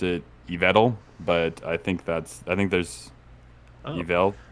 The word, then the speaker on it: Yveltal: a name that my mouth does not like pronouncing, Eviltall. I'm just realizing now it's the first time I've ever heard anyone say this Pokemon's name. I've always pronounced it Yveltal, but I think there's Yvel, maybe Yveltal.